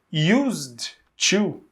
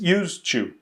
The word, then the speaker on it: used to: present look here so used to the pronunciation is exactly the same as use to because when we talk